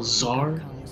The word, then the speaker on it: Tsar: Kind of like how Tsar is, where the T is silent.